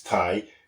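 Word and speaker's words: taigh: Thai quite phonetically whereas in Scottish it's Scottish garlic it's Thai written t-a-i-g-h and that shows you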